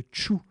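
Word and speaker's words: Thiou: nom un peu particulier elle s'appelle le tchou et puis pour compliquer les choses ça s'écrit th i o ou et on prononce tchou effectivement c'est une des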